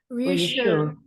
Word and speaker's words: reassure: So this is you, but here we say ooh, reassure, not you, reassure. No.